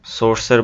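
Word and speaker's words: source: এখানে খেয়াল করো যে আর উচ্চারণটা একদম খুবই ক্ষীণ, একদম খুবই অল্প সময়ের জন্য উচ্চারণ করছে, বাট সি এবং ই এটার উচ্চারণটা খেয়াল করো একটু দীর্ঘায়িত।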